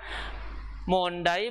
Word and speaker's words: Monday: saya jelaskan kembali ya munday bacanya Monday ya oke di sini